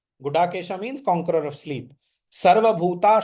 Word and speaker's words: Gudakesha: Sometimes people mispronounce it as Guda with that dot within. In Sanskrit, that is not there. That is a Hindi sound. The Sanskrit sounded da, ta, tha, da. So Aham Atma Gudakesha.